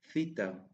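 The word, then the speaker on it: θήτα: Theta. Theta. The sound of theta is the same as the th sound in thin.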